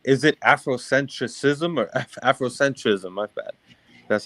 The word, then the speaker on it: Afrocentrism: that afrocentrism um is it Afrocentric ISM or afrocentrism my bad that's how you pronounce no no no no it's afrocentrism I